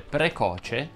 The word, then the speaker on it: precoce: una tastiera roma di solito quando le parole terminano in facce quella va pronunciata chiusa infatti sarebbe corretto dire croce atroce e feroce e veloce foce voce noce tucci e così di le uniche eccezioni sono rappresentate dalle parole precoce watch e nuoce alla prima occasione lo